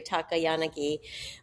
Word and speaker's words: Takayanagi: Yes, it's a Japanese name, by the way, that means tall willow tree, Takayanagi.